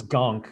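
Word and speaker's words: Ganke: fair i feel like gonk is also fair i feel like we're overly hating on jd gonk is like you kind of understand gang because it's spelled g-a-n-k-e all right gunk seemed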